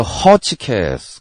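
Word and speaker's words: Hotchkiss: 이게 어 첫 질러블의 강세가 있겠지. 그래서 김에더 허치캐스 그리고 다시 한번 딱 각을 잡아서 얘기를 했대요.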